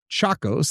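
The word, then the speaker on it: Tchacos: In 2000, the manuscript was purchased for $300,000 by antiquities dealer Freda Chacos. That is spelled T C H A C O S.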